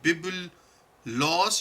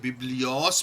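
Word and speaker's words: βίβλος: तो ये बिब्लॉस या बिब्लियोस भी इसको कुछ लोग इसका प्रोनाउंसिएशन इसकी करते हैं।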